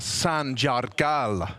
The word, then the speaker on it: Sanjargal: you mean Unudelga ba Sanjargal is how you say it properly. They roll their R's. And lengthen the A's. And lengthen the A's if there's two of them, which kind of makes sense.